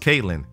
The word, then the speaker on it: Kaitlin Lynn: Number 14, Kaitlin Lynn, pronounced Caitlyn.